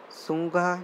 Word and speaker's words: Tsinghua: And Sungha University, T is silent, Tsinghua University, China, top the list.